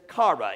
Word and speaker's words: chara: When you look at the Greek root word for joy, we recognize that it is chara. It's spelled C-H-A-R-A.